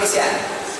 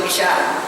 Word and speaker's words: misyar: misyar kahwin Misar ya sebutan ejaan m i s tolak y a r mis ya mim Sin ya Alif ro ada orang tulis mis tulis sekali m i s y a r orang baca mishar salah bukan mishar kalau